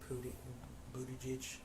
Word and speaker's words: Buttigieg: Buttigieg, I believe is how you pronounce his name.